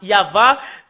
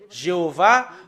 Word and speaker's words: Yahvah: sont enlevés de l'original normalement ça doit être yava que qu'on doit le prononcer bah ça a changé en y avait Jéhova ou you B alors